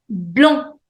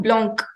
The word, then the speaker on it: blanc: Blanc. You don't have to pronounce C. It is not blanc.